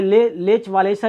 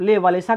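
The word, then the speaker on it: Lech Wałęsa: Fitter जिसका नाम है लेच वालेसा, इसको आप ले वालेसा कह सकते हैं, लेक वालेसा पढ़ सकते हैं, आप इसको प्रोनाउंस कर सकते हैं।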